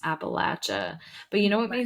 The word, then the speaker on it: Appalachia: I can't remember how the correct pronunciation according to your dad it is Appalachia but you know what